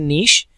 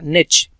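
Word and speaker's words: niche: अच्छा, अब ये वर्ड जो है ये दो तरह से प्रोनाउंस किया जाता है। एक इसे पढ़ते हैं नीश और कुछ लोग इसे पढ़ते हैं निच। तो ये दो तरीके से प्रोनाउंस किया जाता है, अब आपकी मर्जी, जैसे भी आप चाहें। निच जो है ये ज़्यादा कॉमन है, नीश जो है ये सेकंड कॉमन प्रोनाउंसिएशन है।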